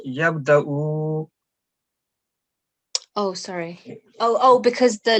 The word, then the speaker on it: يبدأ: I was just asking because this vaw on the top is Hamzah, so we will ignore vaw. This will be just Hamzah sound and yabda'ul khalqa.